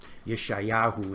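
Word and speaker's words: ישעיהו: with the prophet Isaiah, or some of you pronounce it Isaiah, Yeshayahu in the Hebrew.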